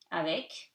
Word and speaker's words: avec: Avec, you pronounce the C, avec.